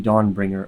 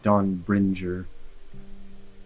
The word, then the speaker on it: Dawnbringer: Why is this Dawner which is mispronounced by the way? It's meant to be Dawnbringer. Of course, not Don Bringer.